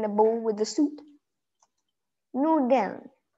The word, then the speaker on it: Nudeln: Nudeln. Nudeln. Nudeln. Just don't pronounce the lin out so obviously.